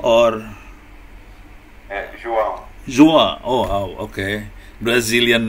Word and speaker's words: João: How can I call you, Jodo or João? João. Oh, okay. Brazilian name is more difficult for me. Am I pronouncing your name right?